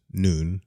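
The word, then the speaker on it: נון: pretty profound stuff there the Hebrew letter noon pronounced noon as in Morning Noon night means fish as a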